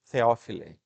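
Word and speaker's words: Θεόφιλε: Na verdade, esse T aí a gente pronuncia igual o TH do inglês, Theophile.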